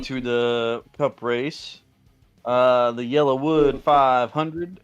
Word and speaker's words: Yellowwood: The Yellowwood 500, and that is YELLA. So I'm saying it right, Yellowwood.